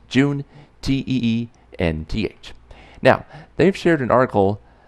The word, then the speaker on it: Juneteenth: be talking about Juneteenth that's pronounced joon-tae and th now they've shared an